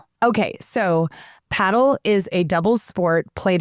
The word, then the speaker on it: padel: And while we're listening, paddle is spelled p a d e l and some people in different parts of the US call it padel, but in Texas, most